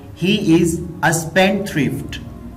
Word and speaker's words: spendthrift: यहाँ पे डा साउंड जो है वो स्किप हो जाएगी, साइलेंट हो जाएगी, तो इसको हम इस तरह प्रोनाउंस करेंगे। He is a spendthrift.